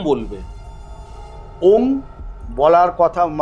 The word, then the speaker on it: ওম: আচ্ছা, উচ্চারণটা ওং বলবে না ওম বলবে? ওম বলার কথা যে হচ্ছে সাধনা, অনুস্বর।